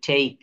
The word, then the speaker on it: take: শব্দের শেষে ই থাকলে ই এর উচ্চারণ হয় না। যেমন NAME, নেইম, নেইম, COME, খাম, TAKE, টেক, FAKE, ফেক।